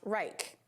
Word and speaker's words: R3ICH: variation made by a company called R3ICH, pronounced Reich.